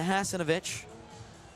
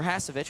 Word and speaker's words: Hasovic: A pass from Zukic straight into Hasanovic, or Hasovic, excuse me. Didn't need to add an extra syllable there.